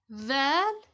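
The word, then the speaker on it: ذال: Val, The, pronounced as the. It's like the word the.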